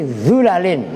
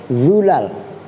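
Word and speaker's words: ظلل: Bacanya fi dhulalin. Nah, ini kan tadi dilal, ya kan? Ditulis dolal. Ada yang bacanya zulal. Tuh awas. Jelas? Bidhammi dhai dengan dibaca dhammah dha-nya min ghairi alifin dengan tanpa alif jam'u zillatin yaitu jamaknya zillah.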